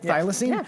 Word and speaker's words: thylacine: as a thylacine is that you say it thylacine i for once pronounced the word correct the first thylacine nailed